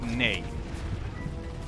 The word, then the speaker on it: nee: And no in Dutch is nay. So unlike nine. You say nay yourself. Oh wait. Now tell you to send it in Sweden. I said we say nay.